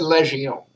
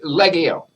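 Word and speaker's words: Λεγιών: he said that because that's not how you pronounce that word in greek and the person who was reading it he was he was a french student you studying french and that's precisely how you pronounce that word in french but not how you pronounce it in greek in Greek you said Leggio all right so you get the G kind of a hard sell like your leg okay like you wouldn't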